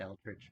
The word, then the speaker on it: eldritch: him and then um eldridge blast you missed yeah you mispronounced that is that correct mark that is close enough okay eldridge blast roll